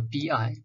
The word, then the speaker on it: Bi: b pan syndrome so bi pronounced as b so exactly the same as b b the fourth term